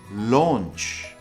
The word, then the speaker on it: launch: launch versus start so it kind of sounds like lunch but remember the pronunciation is launch launch in many cases the